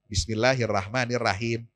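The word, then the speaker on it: بسم الله الرحمن الرحيم: Bismillahirrahmanirrahim. Iya kan? Sebab a a itu dibaca a ra bismillahirrahmanirrahim. Itu bahasa transliterasi. Tapi kalau bahasa tadarus Al-Qur'an enggak begitu. Harusnya dibaca bukan ra tapi ro.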